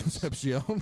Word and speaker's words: Concepcion: That's not Casey Concepcion.